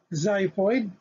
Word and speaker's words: xiphoid: the letter x okay the letter x it is pronounced as letter z and letter z so the example is xiphoid cyborg okay zyphoid okay it's pertaining to